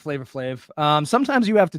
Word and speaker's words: Flavor Flav: flave is that how you say his name flavor flave yep he was invited to sing the national